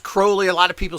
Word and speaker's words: Crowley: crowley and it's pronounced crowley a lot of people say crowley etc and it's uh he used to state that it was like holy crowley okay so that's the